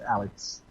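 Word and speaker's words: Aleix: His name is just pronounced Alex.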